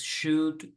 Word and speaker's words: should: Y aquí recuerden entonces should, could, would. ¿Cómo se pronuncian? Solo con la U y la D.